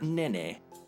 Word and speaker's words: Nene: This is where Van lives with his father Val and his sister Nene. I think that's how you pronounce it. As a kid, I pronounced it nin.